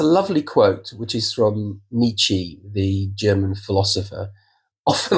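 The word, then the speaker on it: Nietzsche: Um and um we there's a lovely quote which is from Nichi the German philosopher often like some people pronounce it nishka and I've been told off a few times that it's nichi.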